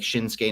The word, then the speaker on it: Shinsuke: thank you Jeffrey well because I think that in Japanese there's like an emphasis like like shinsuke Nakamura it's spelled sh sh i n s u ke but they don't put like the language itself they don't put the emphasis on um vowels in certain spaces so I think it's